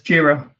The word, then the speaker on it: Jira: This JIRA, right? That's how it's pronounced? Yeah, it's JIRA.